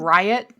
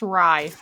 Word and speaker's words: Ry: you keep calling him Riot his name's Riot it's Ry they call they call him riot but it is I see how it's spelled Ry right there but like on his